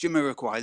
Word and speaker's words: Jamiroquai: I pronounced it correct. Jamiroquai.